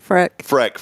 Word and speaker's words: Frick: Frick, and you are wearing, did I say it right? Frick.